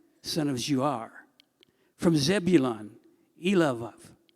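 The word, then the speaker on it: Eliab: from Issachar, Nethanel, son of Zir, from Zebulun, Elav, now the B's are pronounced like V's, son of Helon, from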